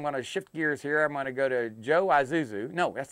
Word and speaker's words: Isuzu: I is separate right I mean the I is silent well it's gone it's